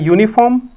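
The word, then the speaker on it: uniform: यू से बना है यूनिफॉर्म, यू से बना है क्या? यूनिफॉर्म। लेकिन यू आपका वाउल इंडिकेट करता है, यू आपका वाउल इंडिकेट करता है, लेकिन जो प्रोनाउंसिएशन आएगा वो किसकी तरफ जा रहा है?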